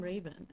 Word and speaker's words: Raven: GM Raven.